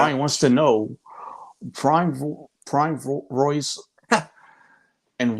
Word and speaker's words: Royce: Jiu-Jitsu he's talking about in Portuguese R is pronounced H so it's hoist Gracie and henzo Gracie